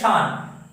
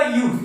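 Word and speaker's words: 四: करने के लिए हमें शी को यूज करना है। हम लोग यो या फिर यॉन को हम लोग यूज नहीं कर सकते, हमें शी ही यूज करना है।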